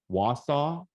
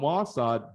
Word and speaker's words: Wausau: My understanding is this is pronounced Wausau. Is that right? It's not Wausau or Wausau. It's Wausau.